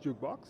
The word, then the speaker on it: JKBX: a music company called jukebox right uh it is spelled JK BX but it's pronounced jukebox right I've been in